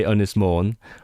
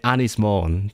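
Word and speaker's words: Ynys Môn: are the I mean if you're speaking Welsh then you say Unis Mourn. If you are the former Tory MP of Unis Mour then you would say Anis Mourn because that's how she pronounced it.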